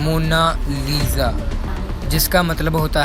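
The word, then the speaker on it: Monna Lisa: दोस्तों इसकी सही प्रोनाउंसिएशन इटालियन में ये है मोनालिसा, जिसका मतलब होता है माई लेडी।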